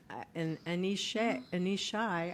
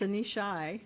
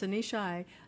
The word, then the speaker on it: Anishai: Anishai. I just found out I've been saying her name wrong. It's Anishai, and I was saying Anisha. So it's Anishai, and hers is grand openings.